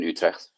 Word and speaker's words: Utrecht: Just pronounce the T a little bit harder at the end. Utrecht. There we Utrecht.